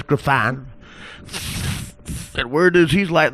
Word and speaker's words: Griffon: I'm sorry to you're that fruit with the Brussels Griffin? Griffon. Excuse me? Actually, it's pronounced Griffon. What is? You said Brussels Griffin. It's Brussels Griffon. Wait, what? It's Brussels Griffon. You said Griffin.